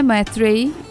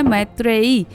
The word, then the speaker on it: मैत्रेयी: मेरा नाम है मैत्रेयी। थोड़ा प्रोनाउंस करने में थोड़ा सा तकलीफ़ होता है। ज़्यादातर लोग मुझे मैत्री बोलते हैं, लेकिन मेरा जो नाम है वो है मैत्रेयी।